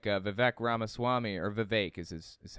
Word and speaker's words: Vivek: that agree with Trump, like Vivek Ramaswamy, or Vivek is how it's pronounced, Vivek Ramaswamy, or anybody else?